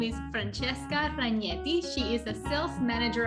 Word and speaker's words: Ragnetti: already pronounced very well because normally people pronounce my surname like ragnari and when i speak to not italian people i normally say okay my name is francesca raganeni ragnetti yes you did i'm italian from